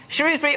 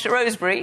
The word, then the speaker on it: Shrewsbury: I don't know about you from Shrewbury or Rosebury depending on how you say it.